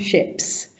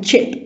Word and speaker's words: chip: And in French, people find the CH very impossible to pronounce. My mother still calls a chip a ship. Okay. It's a hard sound.